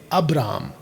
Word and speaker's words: अब्राम: Hindi translation है उसमें इब्राम इब्राहिम ये मुस्लिम लोगों का प्रोनंसिएशन है या उच्चारण है लेकिन जो जुश है आज भी वो इब्राहम या इब्राहिम नहीं बुलाते बल्कि वो कहते हैं अब्राम और साथ में उसका